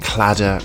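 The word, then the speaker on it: Claddagh: a bit strange because it is an anglicized version of a celtic irish word cladda ring next up we're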